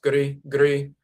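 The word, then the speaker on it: gri-gri: So when you take all of those into account, the term gere, or gere, gere, which is pronounced gri, gri, in the Mendi language, you have a ritual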